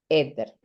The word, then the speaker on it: éter: Entonces, podríamos decir etil, fenil, éter. va con acento en la E, perdón.